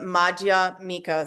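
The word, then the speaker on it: Madhyamika: This is the Maja Mika School which is spelled M A D H Y A M I K A.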